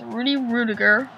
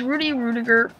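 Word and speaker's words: Rudy Ruettiger: movie but it's basically about this guy named rudy rudiger that's how you pronounce rudy rudiger and i kind of did my research on hasball's name but it's rudy rudiger and he's uh he went and goes to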